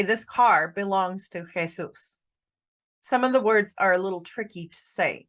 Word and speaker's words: Jesus': This is Jesus' car. And sometimes people will try to say Jesus's. This is a little bit tricky in pronunciation. This is Jesus' car.